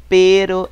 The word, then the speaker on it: pero: Vocês sabem que pero é uma palavra com R. Olha a pronúncia, pero. E nós temos a palavra com 2 R's, mas a pronúncia vai mudar. Perros. Ok? Pero, perros. Pero, perros. Eu vibro a língua quando eu tenho 2 R's.